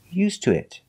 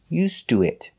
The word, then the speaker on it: used to: used to it pronunciation used to it now the T changes to ooh used to it before it we Chang the sound used to it he